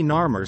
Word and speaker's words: Narmer: At the top are the symbols for catfish, phonetically nar, and chisel, phonetically mer. In the center, we see Narmer standing tall with the